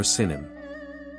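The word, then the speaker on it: סִין: known as Sani or Sinim. Interestingly, its name resembles several terms and cities, including the very name, China. In Hebrew, it is pronounced as Sin and can have meanings such as clay peak or mud.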